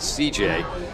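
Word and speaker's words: Cijai: It's C-I-J-A-I is the first name. We're pronouncing it C.J.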